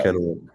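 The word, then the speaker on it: Kennewick: Washington uh Kenwick Kenwick is that how we pronounce it yeah Kenwick uh Tyler how does it feel to be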